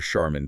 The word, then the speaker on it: Charmin: Tunal ti lunal or charmin toilet paper. That ch isn't key each sheman. Charmin. Okay, this shows these rules aren't just theory.